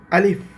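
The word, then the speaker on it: ألف: আলিফ শেষে একটা ফলায় যে ফ এর মত উচ্চারণ হয়ে একটা বাতাস বের হবে।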